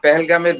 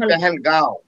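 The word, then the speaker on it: Pahalgam: এই মানে এই পেহেলগামের বিষয় নিয়ে, আসলে এটা পেহেলগাম বলে ইংলিশে, আর এটাকে নর্মাল উচ্চারণে পেহেলগাঁও চন্দ্রবিন্দু দিয়ে।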